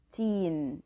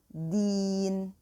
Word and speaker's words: دين: And the deen is di. And try to make the pronunciation of dal free from the T sound. It shouldn't be teen, okay? It shouldn't be approaching the T sound. It should be a pure D sound. So deen.